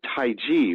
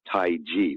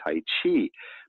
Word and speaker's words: Taiji: course brown said as Taoism you know and Taiji which is Tai Chi Chuan the thing that people do is actually that the word c-h-i is supposed to be trenton to be pronounced as ji yes Taiji but who would know that so most people